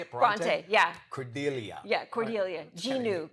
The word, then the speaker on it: Bronte: Bronte, yeah.